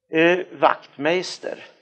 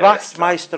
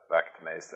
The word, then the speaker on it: Wachtmeister: Wachtmeister, ska du uttala så? Ja, det ska du göra. Du kan säga att det uttalas på samma sätt som Skruvmejsel. Ja.